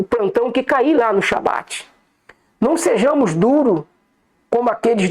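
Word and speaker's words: שבת: Nenhuma nação fora de Israel pronuncia a palavra correta Shabat.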